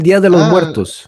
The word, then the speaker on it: Día de los Muertos: Yes, El Día de los Muertos.